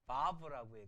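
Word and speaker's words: וו: 중간에 와우가 아니라 우리 바브라고 한 걸 바브 그렇게 두 개는 봤고요.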